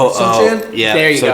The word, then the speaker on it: Sochan: Sochan? Yeah, There you go. Sochan.